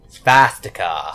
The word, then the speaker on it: swastika: It's actually pronounced Svastika.